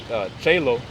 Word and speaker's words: cielo: In modern Italian, that's cielo.